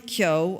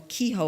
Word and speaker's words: Keogh: The people on board on Crossan were Sam Nunn, Rory Nunn, Brian Keogh, or Kehoe, I think they pronounce it down in Wexford, and Niall McGee.